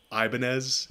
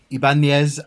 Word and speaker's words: Ibanez: Anything that's not somebody saying Ibanez is a 10. I get a lot of Ibanez because people just try to say it the way it's spelled, so you did very well.